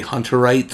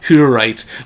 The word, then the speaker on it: Hutterites: I keep wanting to say Hunterites. Yeah. Because it's spelled like H-U. Right. But it is Hutterites walking out of a GNC with a bunch of like protein.